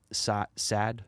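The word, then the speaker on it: Saad: with him because i was listening to gad sad i believe is how you say his name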